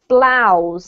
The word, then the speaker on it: blouse: This is actually blouse, and it rhymes with cows, okay? So don't be put off by the weird spelling.